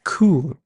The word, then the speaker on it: coup: We also had moderates or moderates, radical, extremists, and coup. P is silent.